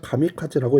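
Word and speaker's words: 神風: 이 외놈들이 신풍을 뭐라고 읽냐면 가미카제라고 읽습니다.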